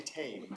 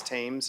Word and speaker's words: Thames: Thames? Did I say it like the river? Thames? We say Thames. Thames, okay, all right.